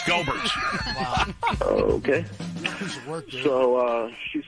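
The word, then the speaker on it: Goebbert's: I'm pretty sure it's pronounced Gerbert's, but no, it's Gobert's. It's Gobert's.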